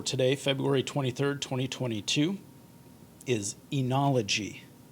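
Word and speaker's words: oenology: the day for today february 23 2022 is enology enology it's a noun and it means the science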